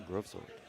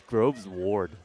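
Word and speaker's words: Grovesward: Yeah, the longtail groves sword. Spelled S W A R D. Honestly, that art is really really nice. Oh, it's Groves Ward.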